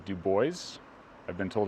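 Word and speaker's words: Dubois: continuing Southeast through Wyoming to a town called Duo I've been told it's pronounced that way by the locals it looks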